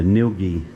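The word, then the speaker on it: Ngilgi: you pronounce the name so the first g is uh the first jg is silent that makes it easy so we're going to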